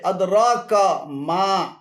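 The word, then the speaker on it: أدراك ما: এখানে আদরা এবং কামা উভয়টি ভুল উচ্চারণ। শুদ্ধ উচ্চারণ হবে আদরাকা মা, আদরাকা মা।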